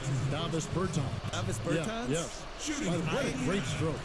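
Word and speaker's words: Dāvis Bertāns: Davis Bertans.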